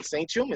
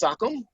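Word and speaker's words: sachem: own opinion but um the sakam as it's pronounced it's not sanum it's sakam and referred to a squa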